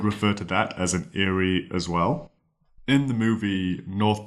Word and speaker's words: aerie: at the spelling and thinking that it is spelled similar to Airy a i r y and sounds a bit like that too Eerie Airy if you have an